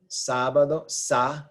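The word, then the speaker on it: sábado: Saturday this is sabado sabado stress is on the S A which is the third from end o and the naval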